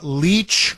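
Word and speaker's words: Lich: across the entire world Tamara leech her last name is spelled l-i-c-h for those of you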